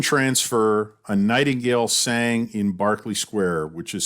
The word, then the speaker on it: Berkeley: were um manhattan transfer a nightingale sang in barkley square which is spelled berkeley but it's it's london so it's pronounced barkley uh i still get goosebumps every time i